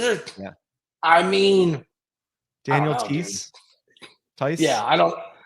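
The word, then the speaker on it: Theis: Yeah, I think it's Tice, right? Is it? I don't. It is because I'm German last name writer, so that's like the one pronunciation I can actually. EI is an I can rock.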